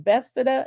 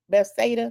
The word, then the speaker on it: Bethesda: And he is also a popular donation advocate from Bethesda. Am I saying it right? Bethsaida, like in the Bible, Maryland.